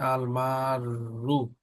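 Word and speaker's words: المارّ: হেডিংটা পড়লাম না আলমাররু এই যে রটা দেখতে পাচ্ছ এই র এর উপরে কিন্তু আগে একটা তাসদিদ আছে তাসদিদের উপরে পেশ তহলে প্রোনাউন্সটা হবে আলমাররু আলমাররুহ বাইনাদাইল মুসাল্লি কি অর্থ passing in front of someone প্রেং।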